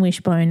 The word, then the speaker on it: Wyshbone: to my website um wishbone is spelled a little bit uniquely it's spelled w y s HB o n e and that's because wish the Y is shaped like a wishbone so that's easier to